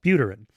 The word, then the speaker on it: Buterin: prescient profile of Vitalik Buterin, I think it's pronounced Buterin, months before the 2022 crypto crash.